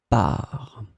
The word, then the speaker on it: parts: the plural form, so with the S in the end, that is totally mute, you don't pronounce it, so it will be exactly the same pronunciation, par.